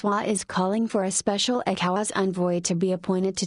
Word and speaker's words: ECOWAS: Both men who brought Ebola to Nigeria have links to source-funded ECOWAS, pronounced ECOWAS, September 4, 2014.